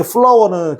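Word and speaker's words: flour: 이때 플라워는 그 발음이 똑같습니다. 밀가루하고 꽃하고 발음이 똑같습니다.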